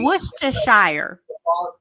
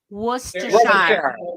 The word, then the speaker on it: Worcestershire: I want to hear Amber say Worcestershire.